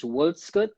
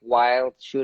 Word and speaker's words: Wildschutt: no, usually they like it is Wildschutt, but some people just like go with the like wild shoot or whatever, but I'm fine with either way.